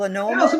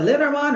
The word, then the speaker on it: Lenormand: Oh, some Lenormand? people call it Lenormand or Lenormand.